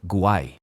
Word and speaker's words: guay: For example, in Spain it's very common to hear guay.